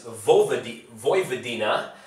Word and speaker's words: Vojvodina: And everybody gives me crap for saying that, because I always say Vojvodina, dinya, but it's Vojvodina, okay, so I said it right.